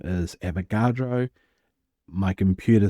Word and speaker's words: Avogadro: And by the way, his name is Avogadro. My computer spell check keeps trying to tell me that his name is spelt Amadeo Avocado.